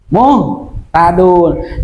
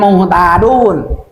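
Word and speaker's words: مهتدون: Muhtadun. Jangan muhtadun. Jadi muhtadun gitu bacanya. Nah, jadi ittabi'u man la yas'alukum ajran wa hum muhtadun. Ya, bacanya. Dun panjang 2 harokat. Sebab ada waw mati sebelum baris patah.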